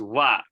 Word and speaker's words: は: Okay, if you remember this from last time, how do you pronounce this thing when it comes to mean equal to? Well, Yes, it's wa, right? It pronounces as wa.